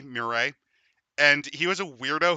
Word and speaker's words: Marat: Uh It's for It's spelled m u r a t, Marat.